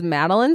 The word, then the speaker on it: Madelein: really funny and awesome and my name is madeline it's spelled m-a-d-e-l-e-i-n because people always misspell it you